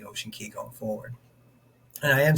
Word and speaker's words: Ocean Cay: But as far as I know, the correct pronunciation is Key, kind of like Key West, that type of thing, even though it's spelled C-A-Y.